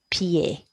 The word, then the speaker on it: pied: And finally, the word for foot, masculine noun, un, peu, e, and ed makes that Italian e sound, pied, pied.